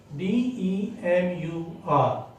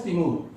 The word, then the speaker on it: demur: D-E-M-U-R. It can either be verb or it can be noun. In India it is often pronounced as demur, but in UK and in the USA it is pronounced as demur.